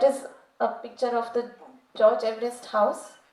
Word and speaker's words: George Everest: His correct pronunciation is George Everest.